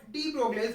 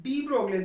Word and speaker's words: de Broglie: What de Broglie's hypothesis? Actually students, it is not de Broglie. The correct pronunciation is de Broglie.